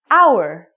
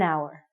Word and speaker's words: hour: for example the word hour we do not even say the H word it sounds like we're saying our so because this word